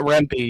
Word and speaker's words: Rempe: another Matt, I want to say this right, Rempe? Is that the correct pronunciation? If not, Matt Rempe, yes.